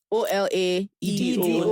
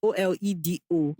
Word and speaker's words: Olaedo: OLAEDO Naturals. Yeah, it's pronounced Olaedo like OLEDO. But it's OLAEDO.